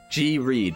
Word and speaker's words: Reed: G Reed, pronounced read like a book.